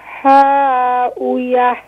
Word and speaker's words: هاوية: وَأَمَّا مَنْ خَفَّتْ مَوَازِينُهُ فَأُمُّهُ حَاوِيَةٌ Ha, pronounce the bottom of throat, please. فَأُمُّهُ هاوية فأمه هاوية فأمه هاوية